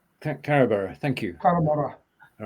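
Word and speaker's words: Carrawburgh: Well, the burr bit's like Edinburgh, isn't it? Yeah. All right. Okay. Carabara. Carabara.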